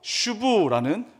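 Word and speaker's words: שוב: 돌아오다라는 말은 히브리어로 슈브라는 어 슈브라고 발음되는 단어가 사용되었습니다.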